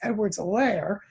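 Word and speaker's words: Edwards-Helaire: for reminding me it's edward's a lair keep on forgetting that the h is silent they went over that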